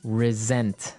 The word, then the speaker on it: resent: said I resent that resent resent okay now this is spelled exactly like resent like with an S right that's right r s n t but you pronounce it like a z mhm resent resent that